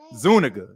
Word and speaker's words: Zuniga: what I'm saying but if you look at his name it's spelled like well you know you know what I'm saying so that was just one of them situations but it's Zuniga you know what I'm saying